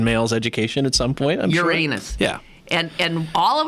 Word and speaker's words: Uranus: you grew up did you learn to say uranus yes it was a part of every every young american male's education at some point uranus yeah and and all of a sudden when